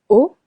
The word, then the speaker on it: haut: Haut. Haute. Silent H. Silent T if it's masculine.